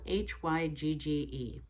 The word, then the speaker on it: hygge: Simplicity and it's spelled h-y-g-g-e it is a Danish word and it's pronounced hygge